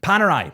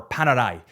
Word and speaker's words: Panerai: Panerai, or Panerai, depending on what you want to say and how you want to pronounce it. I'm Scottish, I'm gonna say Panerai.